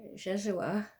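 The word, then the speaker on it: Yeshua: church I accepted Jesus that's our American way of pronouncing jejua which is Hebrew I accepted Jesus when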